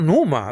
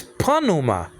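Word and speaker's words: pneuma: deal so so panuma it's not Numa like Dr Bron used to say it's Puna I agree with that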